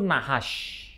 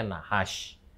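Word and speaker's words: נחש: Ular itu nahash. Tentu saja ingat tidak ada huruf vokal di sana karena ini Ibrani, tapi bacanya nahash.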